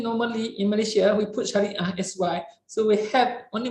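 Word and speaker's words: Shariah: Actually, it is SH. So the words to pronounce in the transliteration in the standard format is actually Sharia, SHA, RIAH. So that is for the Sharia, not SYE.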